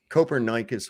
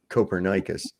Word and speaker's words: Copernicus: that's funny do better coper Nikas would be ashamed of you these people they don't even know how to say the guy's name right Copernicus the coper nikan principal